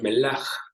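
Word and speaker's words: מלח: Llama la atención cómo esta palabra sal en el idioma hebreo se pronuncia melaj y se escribe con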